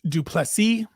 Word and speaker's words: du Plessis: Dricus du Plessis. The S on the end is silent, as he reminds us all the time.